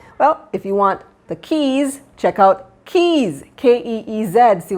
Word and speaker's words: Keez: little bit to get keys that k-e-e-z actually you know it's pronounced like keys to your home exactly was intentional quite